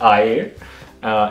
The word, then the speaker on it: air: spelled like air so it's a-i-r but it's pronounced i uh and adjectives comes to the end so follow